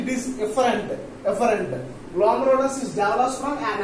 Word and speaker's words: efferent: So pronunciation is very important. An afferent arteriole, and it gives rise to an efferent arteriole. So only that the variation is that is afferent, it is efferent.